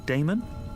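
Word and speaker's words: Daemon: How do you pronounce that? Damon, if you prefer.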